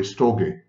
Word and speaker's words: storge: And then there is storge, or should be pronounced, by the way, storge.